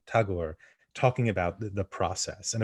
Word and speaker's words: Tagore: of chatterjee and and tangor talking about i keep saying her name wrong tagore talking about the process